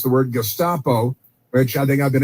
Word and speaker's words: Gestapo: Gustapo.